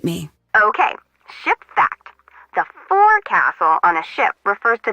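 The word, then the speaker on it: forecastle: ship but it's pronounced fil why is that try pronouncing it like an English sailor with no formal education F Castle fil overtime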